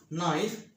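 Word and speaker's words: knife: নাইফ, ছুরি। Night, যোদ্ধা। Knowledge, জ্ঞান। নি, হাঁটু। নাও, হাতল। আবার বলছি, ইংরেজি শব্দের শুরুতে কে-এন থাকলে কে-এন এর উচ্চারণ দন্তন্য হবে। নক, কড়া নাড়া।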